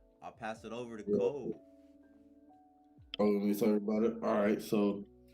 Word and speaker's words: Code: I'll pass it over to Code. Oh, let me talk about it. All right, so anyone who's listening, Kode, pronounce Code, not Cody.